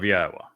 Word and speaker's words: Yahowah: Jashi, not of Adoni, of Yahwa. That is Yahweh's name pronounced as instructed in his Torah regarding his haya existence.